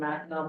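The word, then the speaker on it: Mackinac: And this is a bridge called the Macon Bridge. that Minac Ridge is how it's spelled, but it connects the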